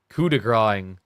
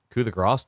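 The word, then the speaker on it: coup de grâce: It's French for killing blow or fatal blow. But it's spelled like coup de grace. But like a lot of people who aren't French misread it as coup de grace because the A has like a symbol above it.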